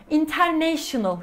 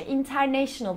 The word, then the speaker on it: international: International kelimesi. Aslında bu kelimenin okunuşu international değil, international olması lazım. Biz international diye dümdüz söylerken aslında oradaki na'da bir çıkış var.